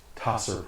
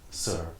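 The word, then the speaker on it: Tser: Tasser Pool, that's T-S-E-R, or Sir Pool, to the northwest, and Ravenloft / Wallaki, that's V-A-L-L-A-K-I, to the southwest.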